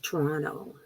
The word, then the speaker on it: Toronto: it in the chat like toronto right the second t gets dropped or instead of 20